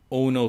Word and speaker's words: Ono: telling us how it sounds if you say in an irish accent it sounds like you're saying oh no oh no so we've got ono shay on today he